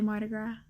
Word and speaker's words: Mardi Gras: But I can say Mardi Gras, and I annoy myself when I say it wrong. So yeah, if you watch that video, you know I was pointing out every time I said an S in the word.